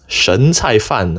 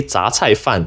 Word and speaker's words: 什菜饭: (Hong, 2022) (Foodgrove, 2021) (Soon Lee Mixed Rice, 2018) Shouldn’t this be read as shén cài fàn or shěn cài fàn instead? Like the 什 (shěn) in 什么 (shěn me)?